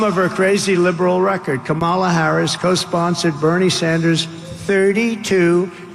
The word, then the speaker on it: Kamala: Kamala. Even Democrats pronounce it this way.